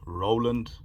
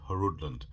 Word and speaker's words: Roland: comment section on the last unboxing, that it's pronounced Roland and not Hrudoland, and it even sounds weird calling it Roland,